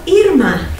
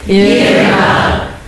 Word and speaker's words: Irma: First, you start out by smiling. And holding that smile, say E. E. Now, Irma. Irma. You're smarter than my Notre Dame students. I have another tip for you. My father-in-law remembered the pronunciation of my name by thinking of earmuffs.